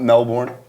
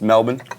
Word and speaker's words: Melbourne: if you've been to Australia, you say Melbourne the way everyone else says Melbourne. It's not Melbourne, it's Melbourne. Really? Yes. Okay. Makes it easier almost. I wasn't sure if it was Melbourne or If Melbourne.